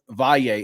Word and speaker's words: Valle: Gilberto Valle. Is Valle the correct way to say it, Gil? Typically in Spanish it is Valle, but I go with Valle.